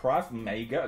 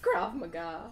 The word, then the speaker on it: Krav Maga: (liest) 'Krav Mäyga' (= Selbstverteidigung); Ich habe keine Ahnung was das ist. S: Krav Maga (richtige Aussprache) P: Krav- Oh, du weißt was das ist.